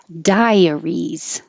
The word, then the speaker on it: diaries: at the beginning skeptical diaries die your tongue goes up very high and then you're all ready to come down so it'll make a y dia diaries which is similar looking but totally different sounding than dairy the a the i